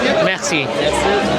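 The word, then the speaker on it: مرسی: Oh, just like in French. Yeah, Merci. but we pronounce the R.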